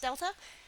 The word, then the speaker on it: delta: But um I just want to explain that this is pr the triangle is pronounced delta like the airline.